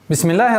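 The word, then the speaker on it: بسم الله: Бис, миль. Перепрыгиваем сразу на букву лям. И автоматически аннулируется артикль, так как третья буква, солнечная буква. Бисмиллахи. Бисмиллахи.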